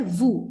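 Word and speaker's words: vous: different name for that it is not q it is called vu it is just like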